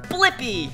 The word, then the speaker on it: Blippi: do is search for my name yeah let's spell it together ready l i p p i blippi good job now you know how to say